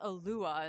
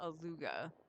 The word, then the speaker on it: Alua: So, I guess it seems to pronounce Alua and not Aluga.